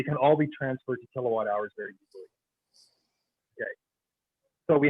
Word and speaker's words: kilowatt hour: it's going to be little k capital w h r and we're going to pronounce this a kilowatt hour kilowatt hour is the